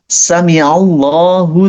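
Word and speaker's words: سمع الله: Pastikan kalian bacanya jangan sami Allah, salah. Jangan pakai hamzah. Di situ huruf kata Allahnya ngeblend sama sami'a. Jadi bacanya sami'allah, pakai ain ya, jangan pakai hamzah ya.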